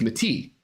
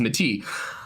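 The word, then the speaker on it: Métis: and European and we referred to them as Mati.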